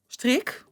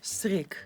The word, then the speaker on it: strik: How would you say bow? Strik. Strik? Oh, wow. Natural. Strik. Strik. Is my accent okay? Yeah, it's very sensual. It's like, oh, Strik. Come on, tie my strik.